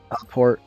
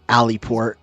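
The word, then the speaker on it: Aleport: Alport alport is I'm assuming is how you're supposed to actually pronounce it and not aliport how I've been saying it.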